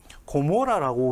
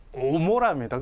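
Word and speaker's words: עמורה: 고모라라고 우리가 기억으로 음력을 하지만 히브리어로는 이 아인이 되어 있습니다. 오모라입니다.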